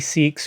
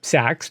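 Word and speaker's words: seax: Well, I was looking all over for a Seeks or sax, depending on which pronunciation you like, which is basically the typical knife of Germanic peoples between the migration period to early Middle Ages.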